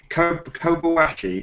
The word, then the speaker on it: Kobayashi: So Kobayashi, is that right? Am I saying it correctly? I would say Kobayashi.